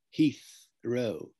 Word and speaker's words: Heathrow: can't pronounce that and cockney certainly wouldn't cockneys would say heathrow heath with an f instead of the ta right now that pronunciation has spread enormously so that people all over the country now would be saying things like heathrow heathrow with an f rather than a th so these are some